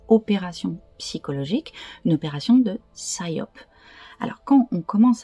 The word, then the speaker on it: psyop: à grande échelle que les Américains appelle SOP donc en fait ça s'écrit Psyop qui veut dire opération psychologique une opération de syop alors quand on commence